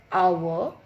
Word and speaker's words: hour: Because H when we speak or when we pronounce hour, it comes vowel sound. It gives vowel sound.